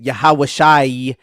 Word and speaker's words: Yahawashi: So for example in the name of Joshua they'll pronounce it yahawashai because you have an in at the end and thus the ion makes the i sound.